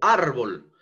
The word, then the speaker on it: árbol: Entonces, por ejemplo, a ver, árbol, árbol termina en L por lo por ende, entonces tengo que tildar la palabra árbol. Árbol en la a, ¿no?